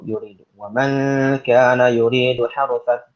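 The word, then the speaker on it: يريد: Itu yuridu bukan yarudu, yuridu.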